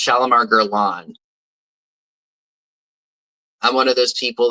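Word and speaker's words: Guerlain: definitely did not know that gerlan was not pronounced gain so it's not shalomar gerain it's shalomar Geron I'm one of those people that pronounces things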